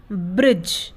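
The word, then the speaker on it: bridge: silent रहता है तो जिस भी शब्द में दी के बाद जी आएगा वहां पर दी साइलेंट रहेगा जैसे ब्रिज बी आर आई दी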